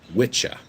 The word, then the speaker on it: Wicca: not pronounced wicca because apparently in old english it's pronounced witcha which eventually turned into